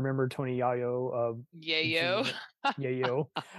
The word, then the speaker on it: Yayo: Tony yo of yayo Yayo I'm the worst of pronouncing Yayo I'm sorry Mr Yayo it's not yoyo um uh I knew